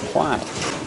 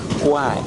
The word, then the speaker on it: Kwai: What we say, bridge over the River Kwai. But actually, the Thais pronounce it khwaae.